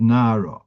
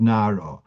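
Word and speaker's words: נערה: Like you have, for example, the word nara. So as you're familiar, this nara is spelled nun ein reish. That's right, and that should be read nar. But the mesoira, the kri is, it's read nara.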